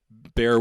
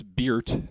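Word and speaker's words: Béart: I guess it's like bear with a T, that's probably just or you bear. could say it's Beert.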